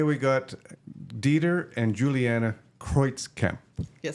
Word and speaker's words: Kreutzkamp: Today we got Dieter and Juliana Kreutzkamp. Yes. Correct. All right. German pronunciation is From Germany, yes.